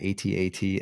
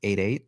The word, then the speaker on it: AT-AT: blue villain it's an 88 Imperial vehicle Walker and when played exhaust all ground units I think you said it wrong it's at at oh is that so